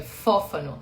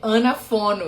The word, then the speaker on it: Fófano: Eu sou odontopediatra, meu sobrenome é Fófano. Ah, entendi. Quando eu li rápido, sabe? Eu li anafono. E depois que eu vi, não, pera, tem mais uma sílaba aí no meio.